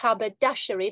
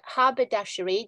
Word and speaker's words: haberdashery: mindful of the stress it's not Haberdashery but Haberdashery the stress is marked it's on the first syllable it's essentially selling uh